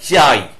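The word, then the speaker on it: χ: করবে আচ্ছা তারপরেরটা হচ্ছে এই কেটার উচ্চারণ হয় না চাই এই উচ্চারণ করবে তারপরেরটা হচ্ছে অমিক্রন এরপরে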